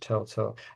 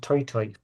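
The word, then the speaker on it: toetoe: Um no, it's pronounced toy toy.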